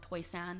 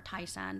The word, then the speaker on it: Toisan: came from an area called Toisan or Taisan, depending on how you pronounce it.